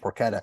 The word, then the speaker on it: porchetta: would would it's spelled like porchetta but it's pronounced poretta can you explain what that is yeah so